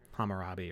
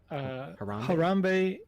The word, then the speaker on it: Harambe: and suddenly poof, you're Hammurabi or something. Yeah, and there was a question over on YouTube. How do you say his name? Harambe is. I said Hammurabi, which is a different name.